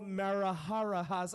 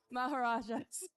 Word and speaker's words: Maharajas: I right yes yes that's mechanical marahas oh my gosh I totally butchered their name marahas and all right I'm just gonna say it correct maharajas maharajas and Hebron robotics